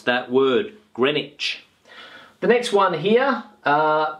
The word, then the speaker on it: Greenwich: think that it is green witch but it's not the case this word is pronounced Grenich Grenich Grenich Grenich okay this sound here is a CH sound Grenich not green witch